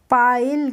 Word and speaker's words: pile: पाइल। कैसे पढ़ेंगे? इसको हम पढ़ेंगे पाहिल। तो इनमें हो रहा है आई का प्रोनाउंसिएशन आ हो रहा है।